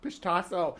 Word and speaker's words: Pishtacos: Pishtacos. Gotta start saying it right. I still want to call it. I don't call them fish tacos anymore.